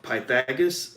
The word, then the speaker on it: Pythagoras: Rebecca Samuels is the founder and CEO of Pythagoras LLC.